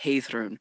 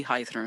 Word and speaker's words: Heiðrún: languages you are correct it is supposed to be high through and so um that's